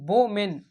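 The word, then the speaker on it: Bowman: Women नहीं बोमेन इसकी spelling B ओ डब्ल्यू एम इ एन होती है।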